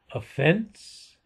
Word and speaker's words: offense: Okay, accent on the second syllable, harshness, accent on the first syllable, offense, accent on the second syllable, and so on.